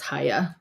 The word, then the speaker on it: hija: wants to look up hija for me it's or hija or it's or it's not PR or it's the J is not pronounced at all and it's Haya or here um so